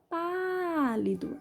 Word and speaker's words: pálido: Primeira palavra era pálido. Sílaba tônica é o pá. Som aberto, acento agudo.